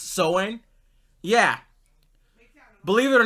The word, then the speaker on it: Samhain: It may be spelled Samhain, but it's actually pronounced Soin.